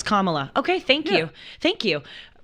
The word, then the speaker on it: Kamala: like the punctuation Kamala is the corre it's Kamala okay thank you I'm I'm not trying people say Kamala that's not right Kamala it's it's Kamala it's commala okay thank you thank you it's it's important